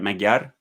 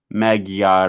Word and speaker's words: Magyar: guess maggiar magyar how do you say that magyar taylor says ya guten morgen ah see i guess i know two words in in uh in hungary and then because i recognized magyar rule okay um and most people don't know